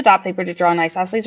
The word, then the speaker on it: isosceles: Now, this also might always my caveat, I'm not positive that that isosceles is spelled correctly there, but you do pronounce it isosceles and it does mean that two of the sides are the same.